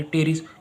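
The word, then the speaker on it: Pteris: टेरिस से हो जाएगा ये टेरिस पी का जो प्रोनाउंस वो साइलेंट है यहां पे सिलोन ड्राई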